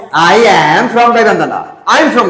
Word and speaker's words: গাইবান্ধা: form না বলবে কি ফ্রম বল উচ্চারণটা এই উচ্চারণটা কি ঠিক আছে বলবান্ধা গাইবান্ধা তুমি স্পেলিংটা পারতো স্পেলিংটা আই গাইডি ঠিক আছে এখন বলবান্ধা I'm from গাইবান্ধা I'm from গাইবান্ধা Naim from গাইগান্ধা I'm from গাইবান্ধা বলো বলো একটু